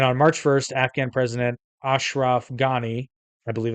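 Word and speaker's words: Ashraf Ghani: Taliban deal and on March 1st Afghan president Ashraf gani I believe it's how you pronounce it rejected the prisoner exchange saying quote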